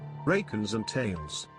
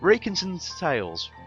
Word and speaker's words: Rakenzarn Tales: And I'm not exactly sure how it's pronounced, but putting it into a text-to-speech. Rakenzarn Tales. So, Rakenzarn Tales, or Rakenzarn Tales.